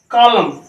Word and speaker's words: column: COLUMN, क्या पढ़ा जाता है, कॉलम। ये क्या है, तो यहाँ पे देखें, यहाँ पर एन साइलेंट है, एन की जो है यहाँ पर प्रोनाउंसिएशन नहीं होगी।